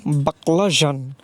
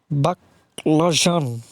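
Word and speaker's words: баклажан: তাহলে বাকলা যান বাকলাজ উচ্চারণটা কিছুটা নাকের মধ্যে নিয়ে করতে হবে বাকলা তাহলে উচ্চারণটা হবে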